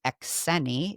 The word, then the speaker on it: Xeni: Because even though so which is. really Xeni, if you're Yeah. going to say it correctly Yeah. in the Greek pronunciation. It's a remnant of being